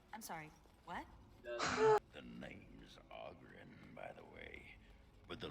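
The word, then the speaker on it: Oghren: The name's Ogren, by the way. But the ladies pronounce it Ogren.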